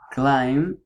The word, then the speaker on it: climb: have the silent B when you have a letter B at the end of the word you don't have to pronounce it because it's mute or is silent for example climb you don't say climb